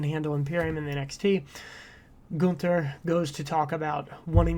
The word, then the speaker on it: Gunther: after she introduces him as gunter and he pronounces her nine it's gunter and you know they're kind of talking about